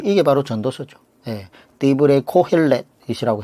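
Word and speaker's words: דברי קהלת: 디브레 코헬렛이라고 해서 히브리어 발음을 쓰는데, 이게 바로 전도서라는 거예요.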